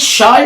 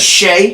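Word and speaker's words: Shai: want to stay on the Knicks is it Shy or Shay Shay it's Shay yeah is there not an i in there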